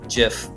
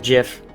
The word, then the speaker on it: GIF: It's pronounced GIF, not GIF. And I will go to my grave saying this is GIF. It is GIF. GIF, goddammit. Even the creator of it calls it GIF.